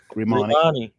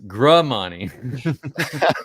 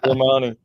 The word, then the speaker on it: Grimani: It's Grimani. And then somebody else directly below that says Gramani. Grimani. Gra. Grimani.